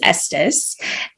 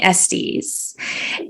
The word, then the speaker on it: Estes: principal learned how to save my last name correctly which is Estes but be prior to him everyone called me SDS and it doesn't matter